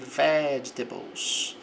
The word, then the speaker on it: vegetables: The container is full of fruits and vegetables. Então, o recipiente ele está full, está cheio of fruits and vegetables. Essa sílaba forte aqui no ve.